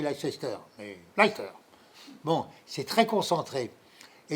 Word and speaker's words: Leicester: Ouais, ça s'écrit Leicester, mais Leicester.